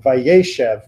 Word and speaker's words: vayeshev: the trope marker that things like vayeshev also get the accent on the ye rather than the shed.